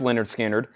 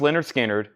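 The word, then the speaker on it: Lynyrd Skynyrd: that's already sold and we have Leonard skinnard pronounced Leonard skinnard VG condition cover damage $1299 riding on the cover pronounced Leonard skinnard VG condition 12299 a lower grade copy but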